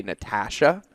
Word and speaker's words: Natasha: And then I'm going to figure out now whose name I'm going to mispronounce because my brain keeps saying Ash. Your brain keeps flipping the A.